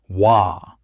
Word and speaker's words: Waaagh: Waaagh! Not a word you say politely. It is a roar with a spelling. Three letters of vowel and a wall of consonant.